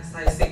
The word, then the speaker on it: CISIC: Sebelumnya saya ucapkan terima kasih kepada saya lebih senang bacanya CISIC ya, lebih keren karena uraiannya bahasa Inggris ya.